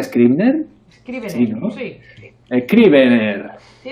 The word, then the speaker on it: Scrivener: Nosotros en el manual, como comprendemos que no todo el mundo sabe manejar Scrivener, ¿se pronuncia Scrivener? Scrivener, sí, ¿no?